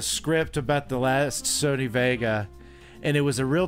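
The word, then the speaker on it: Wega: says what what is the Sony waga or Vega is actually how you pronounce it it's uh so I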